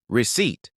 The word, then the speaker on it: receipt: We say Wednesday but it's actually Woden's day named after a Norse god receipt. That P is silent now but it was there in Latin recepta air.